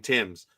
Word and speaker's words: Marcus Timms: Marcus Timms pronounced his name Timms.